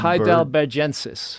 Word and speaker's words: heidelbergensis: Heidelbergensis, Heidelberg, something some remains found near Heidelberg in Germany.